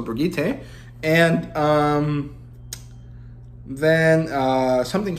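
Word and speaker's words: Birgitte: so I guess um I'm gonna say it like they say it in OverWatch so brigite and um then uh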